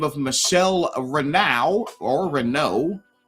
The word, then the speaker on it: Renault: of Michelle Rena or Renault, right? R E N. Renault. Renault. E A U. Yeah. Fine. Let's have every letter but O and pronounce it O.